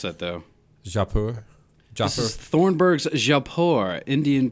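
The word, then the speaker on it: Jaipur: How do you pronounce that though? Japur.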